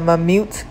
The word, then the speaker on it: Mammut: It's called the Mammut collection. I believe that's how you say it, is M-A-M-M-U-T.